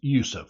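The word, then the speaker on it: Yusuf: spelling of his name the Turkish spelling of his name is Yousef y u s UF Yousef spelled like the word youu y o u s o UF was the common spelling used in France while yof yet another spelling I've seen with two s's in it was the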